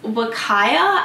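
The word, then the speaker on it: Huacaya: Now this is Wakaya alpaca. I think that's how you say it. It is spelt with a H but pronounced kind of like a W.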